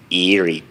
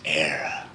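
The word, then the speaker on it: Éire: The land of your fathers isn't Erie, boyo. It's Era.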